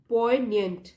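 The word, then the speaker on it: poignant: सर्वस एज अ पॉइंट इसको पढ़ेंगे जी silent है पॉइंट दिस डे सर्वस एज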